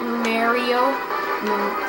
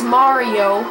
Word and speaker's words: Mario: just pronounced that wrong I hated people who pronounce it Mario like Mario Lemieux it's Mario how are these guys oh